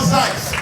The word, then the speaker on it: Zeitz: Paul Zeitz. Y'all give it up for Paul Zeitz. Zeitz. Zeitz will fight for your right. That's how I'm going to learn how to say his name.